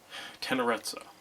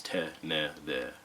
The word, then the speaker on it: Tenerezza: One just being the fact that there are two Z's here that you would pronounce the way that you would pronounce pizza, so that is Tenerezza. But there's also a phonetic pronunciation here. It is Te-ne-de-tsua.